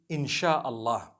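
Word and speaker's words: insya Allah: s-y-a they pronounce it they pronounce the s y the way we pronounce s h so they can write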